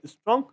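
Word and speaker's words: scent: the garden with their strong ेंट है ना सेंट में सी साइलेंट रहता है सॉरी बच्चों मैं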